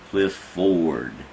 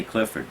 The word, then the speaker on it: Clifford: they knew you well they pronounced it cliff forward which was trying to make sure they were getting all the syllables there i say clifford right right so if